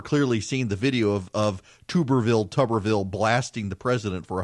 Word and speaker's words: Tuberville: unfortunate non-mistake of saying Goober Tuberville, instead of Tuberville for Tommy Tuberville, the former coach at Auburn.